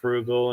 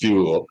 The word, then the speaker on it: Fugal: of them, working for Frugal. And so I'm like, yeah, Frugal. you guys are. He's not frugal at all. But, did I mispronounce his name? Yeah, you said frugal with the R. It's fugal.